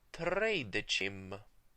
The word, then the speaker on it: tredecim: Whenever the letter C is followed by E and I, and sometimes even Y, it's pronounced ch, as in tredecim.